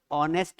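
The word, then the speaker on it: honest: गलत था क्यों क्योंकि एच साइलेंट है इसलिए इसका प्रोनंसिएशन क्या होना चाहिए ऑनेस्ट होना चाहिए हां या ना बोल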